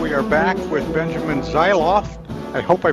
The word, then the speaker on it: Zeisloft: are back with Benjamin zof I hope I pronounced that right Benjamin from campus reform yeah thanks for having me it's zof so you were close zof good I I